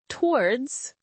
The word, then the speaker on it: towards: So toll words two syllables becomes towards one syllable and fit three syllables becomes favorite two syllables.